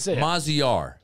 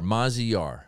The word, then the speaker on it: Maziar: do you say it how do you say it maziar oh jesus yar mazi yar all right so that's